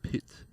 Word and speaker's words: Pyth: Because, if you try and really say it like full Swede, it's like Pit.